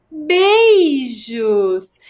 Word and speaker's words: beijos: Lembra que falou que tinha 2 sílabas? Beijos. B-E-I, 3 letras. Jos, J-O-S, 3 letras.